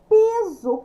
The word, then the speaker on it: piso: Piso, piso. Pronúncia com Z, escrita com S.